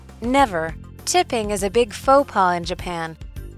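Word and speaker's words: faux pas: tipping is a big faux paw in Japan this term is not pronounced fal's pass it looks like that but this is from French it's from French okay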